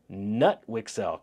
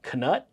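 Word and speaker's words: Knut Wicksell: such as nut wixell how would you like that name nut wixel canut it's spelled KN n t I'm sure you guys could figure it out but for this recording it's nut wixel Irving Fisher and lugwig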